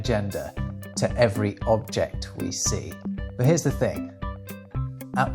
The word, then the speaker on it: sē: If you were talking about a masculine object, instead of the, you would say se. If you were talking about a feminine object, you would say seyo.